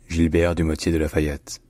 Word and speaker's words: Gilbert du Motier de La Fayette: So in French, his name is pronounced Gilbert du Motier de Lafayette. Gilbert du Motier de Lafayette.